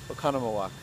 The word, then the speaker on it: Oconomowoc: On to Oconomowoc. I said it right that time.